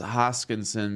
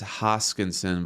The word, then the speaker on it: Hoskinson: Some people don't like the way I pronounce Hoskinson because on the Detroit Lions, we used to have a guy whose last name was Hawkinson.